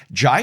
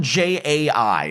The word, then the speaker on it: Jai: Okay, it's spelled J AI. That sounds like Jai.